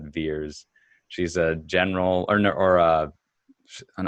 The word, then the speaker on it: Vers: And so VERS, they pronounce that Veers.